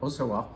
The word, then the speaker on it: Auxerrois: Pinot Blanc and a hard to pronounce grape. When you see it in writing, you're gonna say, how the hell do I say that? Is that Auxerrois? No, it's Auxerrois, something like that, Auxerrois.